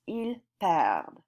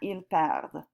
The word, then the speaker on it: il perd: This is pronounced il perd. You do hear the D in that, il perd. It's very quiet though.